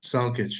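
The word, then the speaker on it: Salkić: How do you prefer it pronounced? Salkic, yeah, Salkic.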